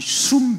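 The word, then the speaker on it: שׂוּם: 이 정한다는 말을 히브리어 발음으로 말하면 숨 이렇게 합니다.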